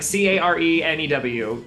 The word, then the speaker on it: Cairnew: Carnu. What is it? Carnu. Oh, Cairnew. It's spelled funky, but it's like Carenew.